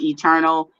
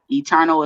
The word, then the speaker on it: Eturnul: my name there at i'm eternal eternal is spelled e t u r n u l if you guys are